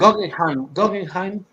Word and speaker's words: Guggenheim: Guggenheim.